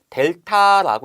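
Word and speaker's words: δ: 그러면 이걸 읽을 때는 델타라고 읽으시면 되고요.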